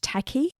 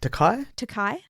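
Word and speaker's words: Takei: say his last name George Taki oh takai George takai isn't it I think that's how you say his name who was Sulu in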